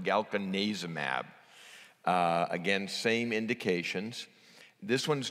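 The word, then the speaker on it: galcanezumab: a so this is galkin azem AB this is the third one released it was approved on September 26 and for reasons that are not clear it's pronounced galkin neza mAb again same indications this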